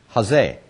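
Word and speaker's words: chazeh: good okay okay so jose what is the term jose i spell it this way ch a z-e-h with the emphasis here jose and this really isn't a cha i say it that way but it's just kind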